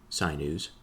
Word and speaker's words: sinew: He says, of the unperforated, some are made of the sinews, of things growing from the earth, others of hair. And I believe I'm pronouncing that wrong. It's sinew. Sinew.